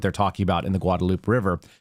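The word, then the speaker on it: Guadalupe: And this is actually what they're talking about in the Guadaloop River, which is pronounced Guadaloop out in Comfort, Texas, which is where our family members live.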